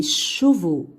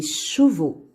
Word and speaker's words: chevaux: يكتب ولا ينطق. Ici, des bateaux. Des bateaux. Des bateaux. Les cheveux. Les cheveux. Les chevaux. Les chevaux.